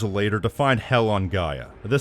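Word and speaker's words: Gaea: Essentially, they are the Guardian Protectors of the planet of Gaia, although it's spelt G-A-E-A, which should be pronounced Gaia, but never mind.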